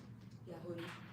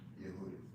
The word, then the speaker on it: Yehudit: Yahudi, Who is? Yahudi, yeah, like Judith, but, Yehudit. yeah. Yehudit.